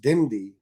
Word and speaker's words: BMDY: the launch of this brand bmdy pronounced dimdi means doing me do